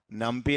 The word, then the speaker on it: NumPy: NumPy like that they are pronouncing, but exact pronunciation is NumPy only.